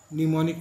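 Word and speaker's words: mnemonic: यू can learn the spelling by writing a word many times, for example निमोनिक निमोनिक निमोनिक निमोनिक निमोनिक एम लगाकर बोलेंगे नहीं एन, तो English में ही दिक्कत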